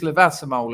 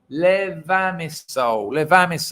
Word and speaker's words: Levamisole: But with this levasimol in it, let me get the pronunciation right. Levamisole.